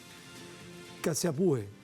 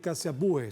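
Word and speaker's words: Caciabue: Vamos a conversar con Matías Caciapúe. ¿Se pronuncia así, Matías? Así es, efectivamente. ¿Me escuchas bien? Sí, Caciapúe, cientista político y docente universitario que nos acompaña desde Buenos Aires, Argentina.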